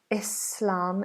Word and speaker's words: Islam: Anna, why the pronunciation of S in Islam is a Z? Islam, Islam.